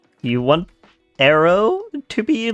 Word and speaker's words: Arrow: You want Arrow to be like the way that I call you? Pronounce it like air, then AO. Air.